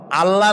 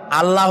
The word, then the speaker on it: আল্লাহ: আল্লাহ নয়, কিন্তু আল্লাহ হচ্ছে অশুদ্ধ, শুদ্ধ হচ্ছে আল্লাহ। বলার সময় মুখটা গোল হয়ে যাবে।